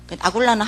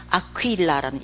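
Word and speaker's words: Aquila: 아굴라는 한국식 발음이고 진짜 이름은 아퀴일라라는 이름이에요. 아퀴일라, 이태리 이름이에요.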